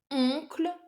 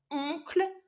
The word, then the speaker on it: oncle: Normal word would be oncle ou tante. Not easy either because they are both like using a nasal French sound. Oncle, tante.